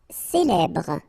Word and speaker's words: célèbre: Célèbre. Okay, first you get this E, then here you get the E, so célèbre. Final E not really pronounced.